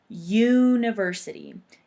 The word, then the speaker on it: university: A U is a vowel, but in English we pronounce this word as university. It makes a y sound.